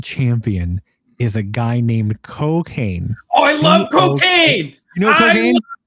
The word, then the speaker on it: Cokane: as tall as Kane, but it's spelled Cokane, like Kane the wrestler too. And there is some crossover with him. So Cocaine, like he comes out there and he does some moves.